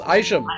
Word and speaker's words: Isham: special interview today mark isham now am i pronouncing that right mark actually it's aisha long eye shame right it has its roots